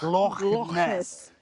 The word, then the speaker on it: Loch Ness: I went 200 miles north from here, right up to the top of Scotland to Loch Ness. You have to say it like that. Loch Ness.